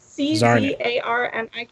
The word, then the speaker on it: Czarnik: Czarnik. It's like czar, and then you add Nick to the end of it, like a Russian czar.